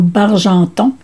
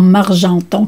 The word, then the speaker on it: Bargenton: Ovila Légaré prononce ici Vive l'Amourette en Bargenton et non en Margenton comme écrit sur l'étiquette.